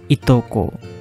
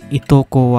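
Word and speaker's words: いとこ: The pronunciation is itoko. Like how many cousin you have. In Japanese, itoko wa nannin desu ka?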